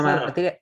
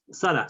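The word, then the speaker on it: שָׂרָה: Pero esto, en la última sílaba se debe. Claro. Hay una regla que yo les mencioné. ¿Se acuerdan cuando vimos las clases de las Nikudot? Que cuando vemos dos kamats en una palabra, la regla nos dice que se va a acentuar en la segunda sílaba, Correcto. en la segunda kamat.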